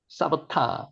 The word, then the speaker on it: 삽다: 쌉다 쌉다는 실제로 발음은 사바타입니다. 사바타 사바타 사바타 예 근데 이제 제일 좋게는 원어를